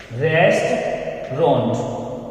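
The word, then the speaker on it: restaurant: We pronounce this word correctly, इस word को हम करेक्टली प्रोनाउंस करते हैं रेस्टोरेंट, रेस्टोरेंट। देखिए रेस्टोरेंट, okay, A यू is silent है तो हम ऐसे बोलेंगे रेस्टोरेंट।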